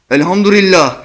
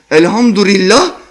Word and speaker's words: Alhamdulillah: Alhamdurillah! (she says) Look! Be careful! Not lillah, rillah! (She pronounces it in a wrong way.) She doesn't know how to say Alhamdulillah!